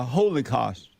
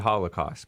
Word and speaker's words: Holocaust: pure money in politics the holy cost whatever i don't know i have some reverence i pronounce it i pronounce it holocaust but i yeah there